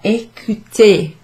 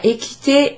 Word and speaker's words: écouté: And it's, strangely enough, it's pronounced in exactly the same way as the infinitive verb with an ER at the end. E accent is pronounced E. E. Tu as écouté.